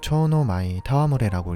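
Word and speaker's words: 蝶ノ舞戯れ: 일본어로는 초노 마이 타와무레라고 읽습니다.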